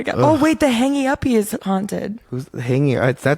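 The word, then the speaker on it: Hangge Uppe: So it's on Elm Street and it's called Hangy Uppie.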